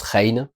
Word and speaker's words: Rahne: Et un des personnages qui s'appelle Rain, R-A-H-N-E, mais ça se prononce Rain.